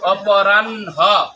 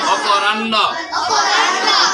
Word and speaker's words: অপরাহ্ন: কয়বার উচ্চারণ হবে? দীপ্ত মানে দুইবার, দীপ্ত মানে দুইবার। কয়বার? দুইবার। অপরাহ্ন, অপরাহ্ন শুদ্ধ। তোমরা আমরা পড়বো অপরাহ্ন। বলো কি? অপরাহ্ন।